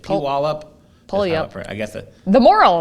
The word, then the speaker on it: Puyallup: So we got the pronunciation. It's Puyallup? No, Puyallup. Oh. I believe Puyallup.